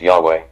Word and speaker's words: Yahweh: Many Greek transcriptions also indicated that Yahweh should be pronounced Yahweh.